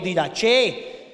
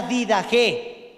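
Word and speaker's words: Didache: tenemos la did ge lo encuentran como did Que también o did Che pero la pronunciación es la did ge que es una palabra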